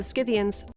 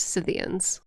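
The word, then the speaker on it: Scythians: Warriors known as the skidians I made a boo cians it's pronounced cyan thrived on the step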